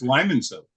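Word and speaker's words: Limoncello: Tony's lemon cello yep but it's Lyman cell what's that pronounced Lyman cell is it yeah it's got an eye in it oh I feel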